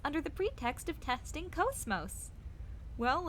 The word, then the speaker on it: KOS-MOS: And KOS-MOS is cosmos, but it's pronounced KOS-MOS because it's basically just translated to Japanese and back, and it becomes KOS-MOS. But I think KOS-MOS sounds pretty cool too.